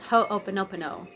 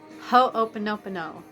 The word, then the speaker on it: Ho'oponopono: the meditation because it's it's a hawaiian word and it's kind of difficult to say but once you figure out how to say it it's super fun it's called ho openopeno ho open up a no and it's a hawaiian